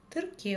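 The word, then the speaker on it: тіркеу: Тр, трке, тырке. Он дальше всё как пишется, так и читается и ничего не искажается.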